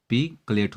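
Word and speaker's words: percolate: तो मैं बता दूं, यहाँ आर, जहाँ जितने भी आर हैं पूरे आर साइलेंट हैं। तो इसे बोलेंगे पीवेड, इसे बोलेंगे पीमेट, लेकिन इसे बोलेंगे पकलेट।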